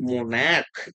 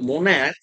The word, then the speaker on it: monarch: কিন্তু আমি যদি এখানে বলি মোনাক MONARCH এখানে যদি বলি মোনাক তো সিএইচ এর উচ্চারণ কি আছে? ক আসছে।